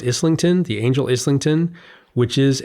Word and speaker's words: Islington: And the angel, by the way, is the Angel, I believe it's pronounced Islington, the Angel Islington, which is a subway stop or a tube stop on the London Underground.